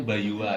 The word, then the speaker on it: Bayur: Bayur. Bayur. Oh, cuman kalau bacanya Bayua ya.